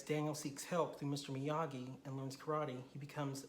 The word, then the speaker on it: Miyagi: It's not Miyagi, Mr. Miyagi.